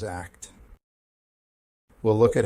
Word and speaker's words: ACT: and strengths based approach acceptance and commitment therapy pronounced as act we'll look at how